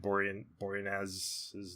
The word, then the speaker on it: Boreanaz: How do you say David Boreanaz's name?